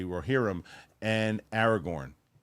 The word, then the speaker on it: Aragorn: don't know now I try to really say Aragorn yeah now you say it right now I try yeah yeah uh Christian unpronouncable hey Roxy are the Royal rejects going